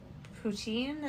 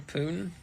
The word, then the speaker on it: poutine: Some poutine? Is that how you say it? Yeah. What were you about to say? Some poon?